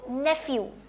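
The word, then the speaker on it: nephew: में है ई डब् pH sound क्या है फ एन ई न एन साउंड न ई साउंड ए एलिफेंट से सो नेफ्यू नेफ्यू किसको कहते हैं भांजे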